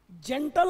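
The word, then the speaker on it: gentile: अब देखना जरा, ये देखो इन दोनों वर्ड को, जेंटल और जेंटील दोनों ही एडजेक्टिव हैं, लेकिन इनका प्रोनाउंसिएशन है जेंटील और वो क्या था, जेंटल।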